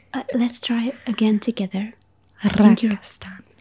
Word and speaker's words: rakastan: I feel like I could very loudly roll my R's, but to do a quiet roll of the R's is the hard part. Let's try it again together. Rakastan. Rakastan.